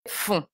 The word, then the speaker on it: font: Donc, vous faites et ils, elles font. Donc, le T est muet et le ON se prononce on.